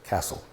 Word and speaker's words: Cassell: And his name was Dave Cassell, Cassell, but he pronounced it Castle.